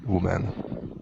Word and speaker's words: women: we're here in person there's a different o sound in the word woman than there is in the plural women women so it's not it's